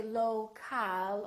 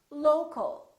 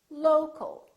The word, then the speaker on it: local: low, low, but we don't say local or local. We reduce the second syllable and it becomes the local, local. So you see OL and AL sound exactly the same because they're both reduced syllables.